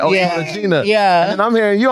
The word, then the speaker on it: Cartagena: It's Cartagena, right?